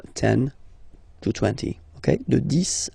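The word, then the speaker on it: dix: De 10 à 20. Okay, so let's start now. 10, okay, so remember, final X here is pronounced like S. 10, 10, okay?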